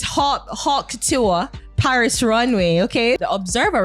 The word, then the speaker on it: haute couture: It's Haute Couture, Paris Runway, okay?